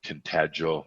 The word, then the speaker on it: Tintagel: went to 8th brewery and we went to tintagel is that how you say it yes and